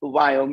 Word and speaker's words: Viome: And I can't pronounce the word Viome, which is V as in Victor. I love it. I love it. So it's Viome.